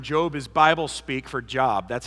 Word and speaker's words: Job: is Bible speak for job that's how it's spelled J OB and but that's not how it's pronounced in Hebrew so we break all